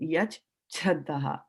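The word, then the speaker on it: यच्छ्रद्धः: Now, it is not yak. This can never be yak. See, is never. Okay. Yach. Right? Yach Chhadraha. So this is Yach Chhadraha.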